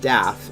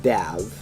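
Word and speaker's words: Dafydd: So guys, if you're ever reading Wind's World when it comes out in 2027, remember his name is not Daff, it's Dav. Dav, yeah. And it is short for Daviv. Devith.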